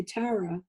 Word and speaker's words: Tara: When I refer to myself, you'll mostly hear me say Tara.